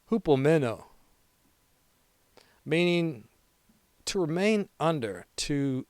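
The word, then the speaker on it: ὑπομένω: So we're going to Greek out on the word endured, pronounced hupomeno, meaning to remain under, to stay instead of fleeing, to persevere beneath pressure.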